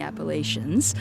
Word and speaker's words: Appalachians: mountain ranges as the the Rockies and the Appalachians. So, I know that that's, uh, you know, not the most popular pronunciation, but I always say, "Hey, that's how we pronounced it there."